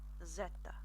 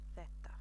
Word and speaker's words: zeta: So coming next, finally, well, almost finally, we have Zeta. Or, as I personally prefer to pronounce it, Theta. So I do personally speak my Spanish with a lisp.